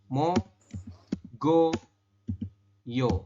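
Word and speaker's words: 먹어요: contohkan ya satu ini tulisannya adalah mok o yo kita membacanya gimana membacanya adalah Giok ini huruf konsonan yang berada di akhir ketemu dengan vokal ini kan vokal ya vokal di tengah ini ditandai dengan e adanya I maka si konsonan ini naik ke ieng di sini ya dan berubah bunyi jadi bunyinya adalah G Oke kalau misalkan Anda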